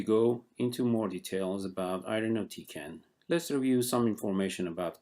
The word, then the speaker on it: irinotecan: Kempo decent analog an easy way to remember the pronunciation of irinotecan is i rhino tea can irinotecan irinotecan is mainly indicated